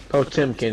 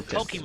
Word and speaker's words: Potemkin: Under no circumstances would Potemkin is actually how you pronounce it. It's a little weird, but you just gotta break it down. But So Potemkin.